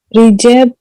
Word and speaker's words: Recep: C is pronounced as J. J. Yeah. Okay. Now I have written a name. Can you read this one? Rejab.